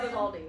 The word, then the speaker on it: Vivaldi: Yeah, Vivaldi.